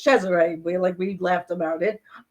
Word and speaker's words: Cesare: but spell it right. Cesare, not Yeah. it's Cesare. We laughed about it. It's not So that's Caesar the way you salad, people.